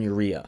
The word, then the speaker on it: Eriya: Those three gentlemen are Tonio Burton, Martin Fitzwater, and Quinton Eriya. And yes, that is how you pronounce his last name, I've heard him say it.